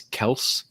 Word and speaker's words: Kelce: if you guys saw, apparently we've all been pronouncing his name incorrectly. Apparently it's Kels. And he and his brother never decided to correct anybody. I don't know. Kelsey, whatever it is, this man is consistent.